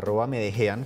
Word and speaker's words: Medellín: En @Medellín, yo estoy en Twitter, @Medejean, como se escribe Blue Jean, @Medellín. Porque siempre lo cuento, es una forma de enseñar a los extranjeros a decir Medellín como debe decirse y no Medellín, que es como lo dicen muchos que hablan inglés y otros idiomas.